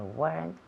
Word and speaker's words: weren't: Weren't. One syllable. Yes, one syllable. Remember, one syllable. There weren't. Nunca decimos weren't ni weren't. No son dos sílabas, una sola sílaba.